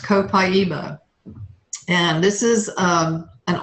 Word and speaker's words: copaiba: years copaiba this is it looks like Copa but it's pronounced copaiba and this is um